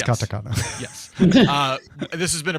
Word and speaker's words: katakana: I said I said We both said it wrong. It's Katakana.